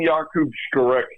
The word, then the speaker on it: Skarek: Look, it's been Jakub Skarek since the day he was born, but all of a sudden now it's Jacob Skarek.